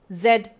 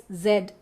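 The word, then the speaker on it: S/Z: Let's decode one of Roland Bart's most famous works, Sed pronounced Szed.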